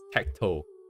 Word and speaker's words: 適当: Okay, the Japanese word tekito is best represented in English pronunciation as tacto. Tech as in tech, technology, and then toe as in the thing on your foot.